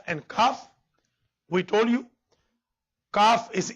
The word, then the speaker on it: Kaf: Then Al-Harfan al-Lahwiyan, Qaf and Kaf, will be pronounced with the raising of the back end of the tongue and touching the soft palate. And difference between Qaf and Kaf, we told you, Kaf